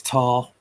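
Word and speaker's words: Tah: And the back at the moment, that's Tar. I think that's how you say it. T-A-H. Or Jonathan. My old mate John. A bit like Tar on the road, but Tar with a H.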